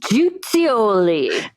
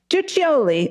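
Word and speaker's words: Guiccioli: named Countis Teresa J I cannot pronounce that it's Italian uh gui ci o l i o man I don't know jutoli jutioli I think you're correct and begins an affair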